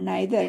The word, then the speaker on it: neither: तो नाइदर ई के बाद आई आया है, तो इसका उच्चारण जो हुआ क्या हुआ, आई हुआ। नाइदर ना में आ हुआ, जुड़ा हुआ है, आई, आई, इसका उच्चारण ई आई का उच्चारण आई की ध्वनि में हुआ।